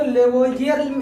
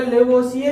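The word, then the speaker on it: Lavoisier: कुछ ट्रांसलेटर इसको लेवोसिए पढ़ देते हैं, कुछ वर्ड को साइलेंट करके, और कुछ पूरा पढ़ देते हैं तो लेवोइजियर बन जाता है।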